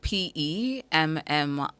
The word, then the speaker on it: pemmican: It's spelled P-E-M-M-I-C-A-N, spelled P-E-M-M-I-C-A-N.